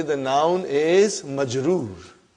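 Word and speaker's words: مجرور: Now if the noun ends with a kasra, be it a tanween or one, we will say the noun is majroor. Not majboor, majroor.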